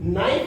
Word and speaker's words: knife: जैसे कि नाइफ है, KNIFE, नाइफ, इसके अंदर अब भैया के क्यों नहीं बोल रहे हो, कि जब आपने लिखा